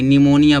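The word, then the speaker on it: pneumonia: silent होगा ठीक है इसे पिनोम नहीं पढ़ेंगे निमोनिया पढ़ेंगे इसी तरह से यहां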